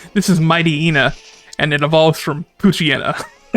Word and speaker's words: Mightyena: Yeah, that's what people say. It's hyena. Mighty and hyena.